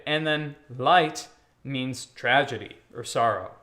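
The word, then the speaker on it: Leid: So if you go to the word light, L-E-I-D, you're going to say the second one, the I. Light. Light.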